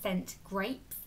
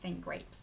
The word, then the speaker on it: St Grape: cool new brand called scent grapes and I've got or S grape am I pronouncing it yeah scent grape not sent grapes um but I've got